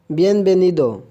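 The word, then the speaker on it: bienvenido: आप कहेंगे वेलकम को बिएनवेनिदो, बिएनवेनिदो। यहाँ पर बी और वी दोनों ही बी की आवाज़ दे रही हैं, ये हम इंशाल्लाह आवाज़ें आगे ज़रूर पढ़ेंगे।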